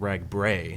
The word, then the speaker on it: RAGBRAI: um you know ragb or as you like to say it should be called rag bra that's the proper pronunciation but um you said